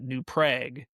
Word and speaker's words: New Prague: I think of um a town in Minnesota that is spelled exactly the same way as the big city in in the Czech Republic. However, they pronounce it New Prague instead of Prague.